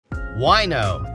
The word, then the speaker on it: Wineaux: Wino, that's spelled Wineaux, is the latest rage for wine lovers and the vino curious around the valley.